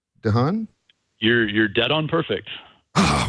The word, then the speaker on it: DeHaan: Did I pronounce that right? DeHaan?